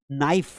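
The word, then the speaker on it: knife: Knob है ना, नाइफ, चाकू, चाकू में नाइफ लिखते हैं, अभी के साइलेंट है, इससे ही काम चल गया।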